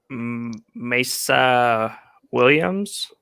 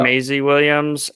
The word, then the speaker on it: Maisie Williams: you put down pete so arya stark aka mesa williams how do you pronounce that maisie yeah maisie williams and just because like her transformation throughout game